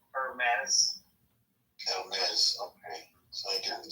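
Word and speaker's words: Hermès: The H is silent. Hermes.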